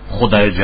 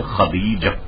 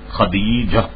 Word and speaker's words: خدیجہ: لوگ غلط کرتے ہیں، خدیجہ اور جانے کیا کیا، تو اس کے صحیح تلفظ جو ہے اس کا ہے خدیجہ، خدیجہ یہ اس کا تلفظ ہے.